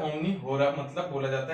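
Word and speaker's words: omni hora: Pronunciation थोड़ी सी मेरी थोड़ी अलग हो सकती है, तो आप अपने हिसाब से प्रोनाउंस कर सकते हैं। मतलब जो जनरली बोला जाता है ओमनी होरा, मतलब बोला जाता है एवरी ऑर के, मतलब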